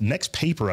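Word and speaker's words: NXTPAPER: brand TLC also announced the nxtp this next paper I think is how it's pronounced 14 pro probably next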